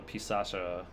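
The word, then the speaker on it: Pisaca: here to buy the pisacha pisaka of the labyrinth it pretty sure it's with a soft C because I've seen the phonetics in Japanese it is like pisacha it's I think it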